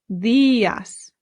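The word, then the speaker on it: días: means good morning and look we have an accent over the I so this is where our stress is Buenos theas another great thing to know is that in Spanish the D is much softer than it is in English an English person would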